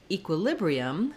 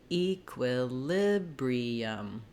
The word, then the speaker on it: equilibrium: equivalence then looking at equilibrium now our letter e is going to say the e sound it has secondary stress so the main stress in this word falls on the lib syllable so now my quiff